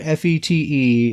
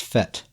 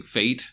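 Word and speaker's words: fête: and apparently this word Fe te it's a French word according to Grizzly and it's pronounced fet right didn't isn't that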